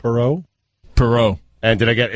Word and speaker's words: Perreault: Perreault Oh Thursday night no how do you pronounce it right Perot Perot and did I get it's not Mathew